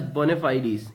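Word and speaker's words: bona fides: is again it's a noun and it is pronounced as bona fide ease you can just see here bona fide ease okay now it means honest intentions and sincerity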